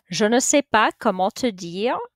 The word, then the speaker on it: je ne sais pas: that a little bit je ne sais pas notice those words in blue all rhymes don't pronounce the s on say or on pa so don't pronounce those final s's if you have an